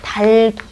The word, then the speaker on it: 닭이: 얘는 받침이 2개이기 때문에 하나씩 사이좋게 나눠 가질 수가 있어요. 그래서 어떻게 돼야 돼요? 달기. 선생님, 저는 닭이라고 발음하는데요. 본인의 발음이 표준 발음일 거라고 생각하면 안 돼요. 왜냐면 원칙대로 하면 닭인데 여러분들이 편리를 위해서 리을 발음을 안 하시는 거예요.